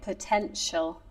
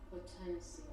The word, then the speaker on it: potential: Potential. Potential. And it's this is another uh thing you don't pronounce correctly. The ti you say it like potential. No, but it's potential.